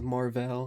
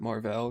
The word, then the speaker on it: Marvell: The next stock on the list is Marvell and I don't know, I feel like a lot of people pronounce it Marvel, but I'm going to pronounce it Marvell cuz that's how it's spelled, but they make networking